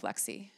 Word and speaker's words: Lexxi: came up with Love Lexxi. It also rhymes with sexy.